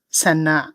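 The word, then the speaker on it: saññā: But in Burmese, I pronounce it sanna.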